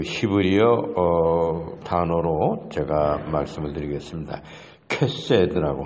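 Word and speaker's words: חסד: 캐세드라고 하는 것이 캐세드, CHESED, 히브리어를 그냥 로마자로 영어 알파벳으로 그렇게 쓰고 발음하면 캐세드입니다.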